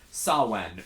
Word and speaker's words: Samhain: pagan Celtic holiday of Samhain, which, because it's Gaelic, if you translate it to English, is spelled, if you were to say it as it's spelled, Samhain. It's okay. Samhien. So he's Sam.